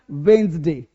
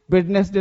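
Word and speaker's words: Wednesday: क्या बोलना है, वेडनेसडे गलत है, क्या बोलना है, वेंसडे, वेंसडे, वेंसडे, वेंसडे भी चलेगा। क्या बोलना है, वेंसडे, वेंसडे, वेंसडे बोलोगे आज से, तो आज से वेडनेसडे नहीं बोलना है, सबको बोलेगा वेंसडे।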